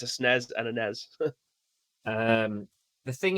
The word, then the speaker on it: SNES: And an SNES. That's a paragraph. I'll just go with a SNES, one syllable, please.